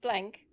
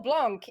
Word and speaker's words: Blanc: do we got with Blanc here is David Blanc which is not pronounced blank it is pronounced Blanc because it is a French game and French needs to